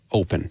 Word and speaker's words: Opn: You should ask for the Oticon Open. Again, it's spelled OPN. We dropped the E so we could trademark it, but the Oticon Open that's what you want to do.